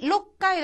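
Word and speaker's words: 六階: 자, 그다음에 영까이 영까이 고까이 고까이 로까이 로까이 자이 로까이도 한번 볼까요? 원래 육은 로구라고 합니다. 그런데 6층이라고 할 때는 록이 이렇게 돼서 로쿠가 록하고 발음하는 거죠.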